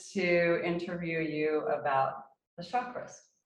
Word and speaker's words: chakras: interview you about the chakras chakras chakras chakras it's not like chicago well um i was